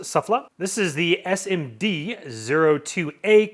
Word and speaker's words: SUFFLA: us we have the suffla metal detector I believe you that's how you pronounce it suffla this is the SMD